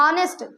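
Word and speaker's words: honest: ऑनेस्ट क्या बोलना चाहिए? ऑनेस्ट बोलना चाहिए। हम गलत बोल रहे हैं ना? एच साइलेंट है भैया।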